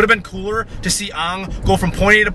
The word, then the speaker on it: Aang: No, I was saying it because I was saying how they say it in the movie. They say Aang. I know. Anyway, it's Aang, it's Sokka, it's Katara.